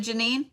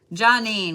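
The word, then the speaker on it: Geanine: there you are love is it Janine and I was saying it wrong earlier johnine gotcha gotcha gotcha gotcha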